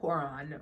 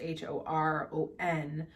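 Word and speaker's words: hoer: hor originally derives from the actual germanic word horon which is h-o-r-o-n meaning one that desires in old norwegian however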